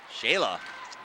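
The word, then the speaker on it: Sheala: Shayla. S-H-E-A-L-A. Shayla. That's how you say it.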